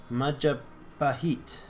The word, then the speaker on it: Majapahit: Majapahit. Majapahit. I should probably start pronouncing it right because it's kind of weird to not do it.